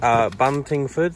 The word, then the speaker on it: Buntingford: Shall we go back to Buntingford?